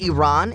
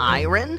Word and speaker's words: Iran: Did you know the country is pronounced Iran and not iron?